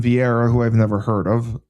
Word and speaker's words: Vieira: versus Ketlen Vieira who I've never heard of.